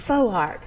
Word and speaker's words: Foark: say it right right because it's difficult to pronounce yeah faux arc that's interesting i like it the full arc